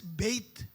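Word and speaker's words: בית: Ang letter B nila, pinopronounce as Beit, meaning house.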